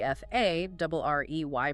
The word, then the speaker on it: Farrey: And this is really where that congressional testimony from Tom Farrey, F A R R E Y, pronounced Farrey, becomes incredibly illuminating.